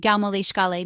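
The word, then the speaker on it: gabh mo leithscéal: The polite phrase excuse me can be used in English, but in Irish you can say gab mo lítsiel, pronounced gau mo líscale, meaning pardon me.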